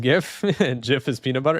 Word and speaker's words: GIF: Thank you for knowing that it's pronounced GIF.